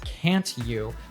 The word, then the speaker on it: can't you: Instead, the T sound at the end of can't blends with the Y sound at the beginning of you, and together they morph into a ch sound.